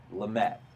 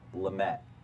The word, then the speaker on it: Lamet: Maybe not my favorite ever, but Dinelson Lamet.